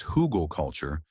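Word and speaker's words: Hügelkultur: Hugelkultur, pronounced hugel culture, is a horticultural technique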